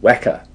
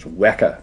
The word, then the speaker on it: Weka: It's called Weka. We don't like calling it the Weka system. It's not Weka, it's Weka, pronounced to rhyme with Mecca.